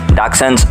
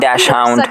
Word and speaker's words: Dachshund: It is pronounced Dachshund. Not dash hound, not dachshund, and definitely not that hot dog thing.